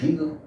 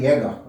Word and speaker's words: Jaeger: Em alemão é Werner Hegel, e em inglês é Werner Jaeger, mas às vezes eu pronuncio como é em português mesmo, Werner Jaeger.